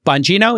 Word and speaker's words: Bongino: system and these included people like Dan uh bongino is that how you pronounce it yes he was tagged with being